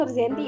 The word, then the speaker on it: Nurzianti: Halo, nama aku aslinya Nurzianti ya dibacanya, dan teman-teman bisa nyapa aku.